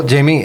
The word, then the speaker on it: Jaime: So, if you can type in Jamie, which is spelled J A I M E, you'll probably find me.